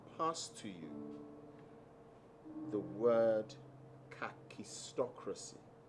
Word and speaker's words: kakistocracy: write out and pass to you the word kakistocracy it's spelled k a k i s it's it's